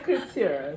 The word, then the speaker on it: Curtera: Her name is Curtera. Curtera. It's Curtera. Curtera, yeah, I said it right.